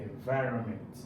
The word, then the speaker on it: environment: So the government is implementing new policies to protect the environment from pollution. Again, where is the stress on environment? Is on vi.